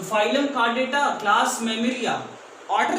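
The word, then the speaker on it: Chordata: Phylum कार्डेटा कार्डेटा नहीं, कार्डेटा। Phylum कार्डेटा, spelling mistake होगा पक्का, चेक कर लीजिएगा, DETA नहीं DETA।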